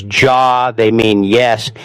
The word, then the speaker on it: ja: If someone says ja, they mean yes. It is pronounced ya.